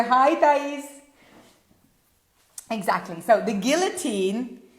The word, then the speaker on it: guillotine: The guillotine. Okay, so let's practice the pronunciation of this. Guillotine. Jiu-Jitsu, Guillotine. Look at my tongue here when I do the L.